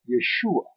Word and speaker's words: Yeshua: In Galilee, the region where Jesus grew up, they spoke a dialect known as Aramaic, and in that tongue his name was pronounced Yeshua.